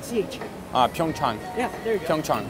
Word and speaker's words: PyeongChang: PyeongChang. Do you know where it's going to be held? PyeongChang. Oh, yeah. You know Korea. It's called PyeongChang. PyeongChang, yeah. PyeongChang. PyeongChang. Chang. Chang. Chang. Like CH. PyeongChang.